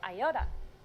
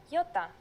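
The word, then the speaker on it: ιώτα: is a vowel that you may have heard called iota in greek though it is called yota and it makes the sound ee again this will look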